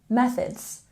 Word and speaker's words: methods: back and check pronunciation we have a stress here on the first Cable in methods methods remember to put your tongue between your teeth for this th sound tongue between your teeth stress on the first syllable methods methods and in Innovative we